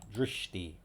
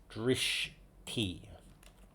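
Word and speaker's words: dṛṣṭi: As in bridge, followed by a sh and a long I. Drishti. Okay. Mitya drishti. So I'm using the phonetic guide of the AI here. Mithya Okay, so drishti.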